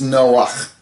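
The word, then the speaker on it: נֹחַ: Now, the word Noah is spelled Nun Chet, because it's Noach. Okay, and I know I'm pronouncing it with a soft H because that's just how I was raised.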